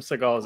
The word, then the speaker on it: Segel: Okay, so it's spelled S-E-G-E-L. Is it? What? Is it what? Is it it's spelled that way? Yeah. No. Oh, I did just get Mandela affected. Yeah. So can't be the only person that's heard that way. Maybe. There are some Seagulls out there, but I believe his name is definitely pronounced Seagull.